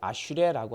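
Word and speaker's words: אשרי: 복되다 이렇게 어 번역하고 있는데 히브리어로 복 있다라고 하는 말이 아슈레라고 하는 말입니다. 발음이 아잖아요. 아 아슈레 어떤 삶이 복이 있습니까?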